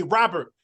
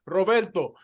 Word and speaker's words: Roberto: And I'm like, hey, my name is Roberto. There's an O at the end. And yes, you should try to roll your R because my name is Roberto, Yeah. not Robert, not, not, Roberto.